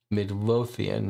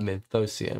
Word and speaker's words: Midlothian: Midlothian, not Midthosian. Well, Midlothian is certainly easier to pronounce with the L.